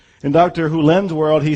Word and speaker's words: Hew Len: world and it's actually dr hulen i've shortened it from e to dr len but it's actually dr houlen if you want to say his name correctly in dr hulen's world he says if